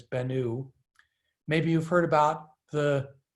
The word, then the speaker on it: Bennu: which is at the asteroid bennu many people mispronounce it as bennu but it's bennu maybe you've heard about the so that's a